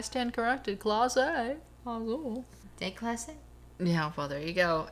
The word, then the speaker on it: Clase: It's not Casa. What is it? Clase. Clase? C-L-A-S-E. That's not how they pronounce it, though.